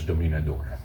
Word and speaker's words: Dominador: his full name and it's spelled Dominator I used to get a kick out of that Dominator but it's dominador like a it was kind